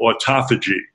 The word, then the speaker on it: autophagy: There's something that happens in a fast called autophagy, A-U-T-O-P-H-A-G-Y, which you can pronounce it autophagy, it just means self-eating, where